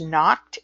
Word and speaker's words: Nocte: It's Nocte, pronounced knocked, and you'll find that with dosages.